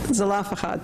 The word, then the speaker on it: Zelophehad: Some people say Zelophehad, thank you, who in the Bible are the ones who insist that women should be able to inherit as well.